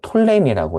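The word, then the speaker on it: Ptolemy: 보통 영어로는 톨레미라고 해요. 프가 약간 묵음이어서 톨레미라고도 하고 프톨레마이오스라고 하는 자가 통치하다가 나중에 BC 198년에 셀주크 왕조가 이 팔레스타인 지역을 통치합니다.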